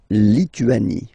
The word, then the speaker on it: Lituanie: Remember in French, sorry, H doesn't exist, okay, so you don't pronounce it, and it's li, tu, a, ni, Lituanie. La Lituanie.